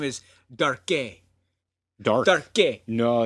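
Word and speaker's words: Darque: I mean, it took me a few times in my head to say, no, dark makes a lot more sense than Darke. When I was a kid, I pronounced it Darku.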